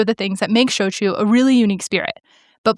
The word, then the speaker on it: shochu: Yeah, sometimes it's like it's just switched around, and so shochu is often pronounced soju, but the thing is, soju is actually a thing, but soju is a similar but different spirit that comes from Korea, and I think that